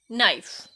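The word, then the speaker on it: knife: आगे जो लाइन है उसमें के साइलेंट है। नो, नो नहीं पढ़ेंगे इसे। नो, नी, नाइफ।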